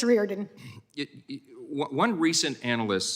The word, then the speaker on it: Reardon: What's the right pronunciation? Thank you. It's Reardon.